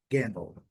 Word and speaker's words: gamble: Aqui, letra L não é pronunciada, a letra L com o som do dark owl, então é gamble, gamble. Sílaba forte a primeira, a sílaba, a segunda sílaba bem mais fraca, gamble, gamble.